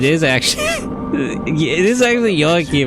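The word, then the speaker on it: Joachim: But oh, it is actually it is actually Yakim. It's the Jewish pronunciation. That's funny. I was wondering if it was wim, but it's actually Yohakim.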